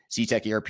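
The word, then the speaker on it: Cetec ERP: So CTech ERP is an ERP system that's built for proactive manufacturers who want to get things done.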